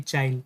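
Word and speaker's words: Chile: Albania, Ecuador या फिर चाइल। ठीक है, चिले भी इसको प्रोनाउंसिएशन करते हैं और चाइल भी बोलते हैं, आपको जो बोलना है आप बोलो, कोई दिक्कत नहीं है।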